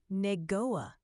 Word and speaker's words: Niangua: a local all right Ryan you say it neoa just roll it off your tongue nice and smooth locals got it down